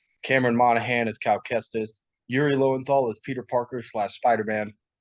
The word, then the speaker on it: Yuri Lowenthal: And then Yuri Lowenthal, which is Marvel Spider-Man 2. that is correct. That pronunciation.